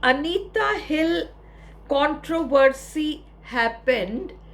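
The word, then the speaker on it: Anita: इन 1991 द अनीता hill controversy happened. ये अपन अनीता कहते हैं, वो लोग एनिटा कहते हैं, इतना सा डिफरेंस है। इंडियन नेम है अनीता, उनका प्रोनाउंसिएशन है एनिटा हिल।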